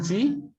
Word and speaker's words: Sie: Sie juga Pak, Sie atau si? Yang mana? Si. Sie apa si? Si, tidak pakai E. Dibacanya Oh, si. nggak pakai E.